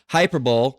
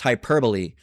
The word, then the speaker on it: hyperbole: Uh, used to be pronounced hyperbol, now it's hyperbole.